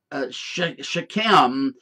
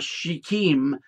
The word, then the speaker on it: Shechem: Now, this city known as, in the Hebrew, Shechem, or Shechem, depending on an enunciation, there's more than one way to pronounce some of these words.